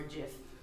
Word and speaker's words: GIF: mesmerizing helix hustle animated gif or jif i think it's pronounced gif because the g in it stands for graphic right so i guess we're